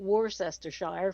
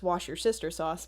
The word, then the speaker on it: Worcestershire: okay red's asking a pronunciation how do you pronounce well it's not worcestershire for scott it's worcestershire it's worcestershire worcestershire according to my grandfather it's wash your sister sauce but that's a good one no worcestershire yeah